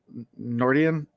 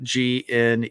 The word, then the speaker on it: Gneorndin: get Nordian. I'm not sure the G is silent, but I didn't write it down. Gneorndin.